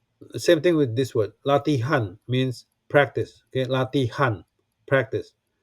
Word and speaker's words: latihan: Latihan means practice.